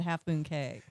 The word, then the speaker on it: Half Moon Cay: Relax Away at Half Moon Cay. Yes, so it rhymes. Relax away.